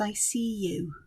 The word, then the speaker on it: Isea-u: is one that's called I think it's pronounced I see you um it's i s e a dash U and this is by Dory